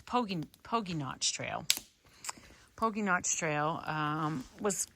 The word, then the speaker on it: Pogy Notch: So that trail that we hiked in, Pogy, and so I've been saying it wrong. I've been calling it Pogy, which I should have known because Pogy would be 2 G's. So it's Pogy Notch Trail.